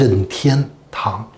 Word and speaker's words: Nintendo: One more thing, the correct pronunciation of Nintendo is Nintendo.